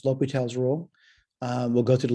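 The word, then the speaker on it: L'Hôpital: Certainly, I'm not an expert in the pronunciations of this guy's name, but my understanding is it's pronounced L'Hopital.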